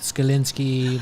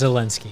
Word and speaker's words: Zelensky: Skalinsky, Monica Lewinsky. I got the name wrong for sure. It's Zelensky. Oh, Zelensky.